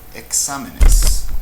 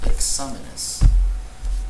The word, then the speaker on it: exámenes: On the other hand, if it's the plural, exámenes, exámenes, then the stress syllable has shifted now. We have this extra syllable here. So the stress syllable has shifted back one. Exámenes means it's estrujula.